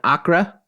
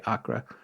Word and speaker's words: Acre: 1960s he shows up in Acra spelled like acre but that's how you said to say it Kinga so I'm saying it that way Acra Far Western Brazil on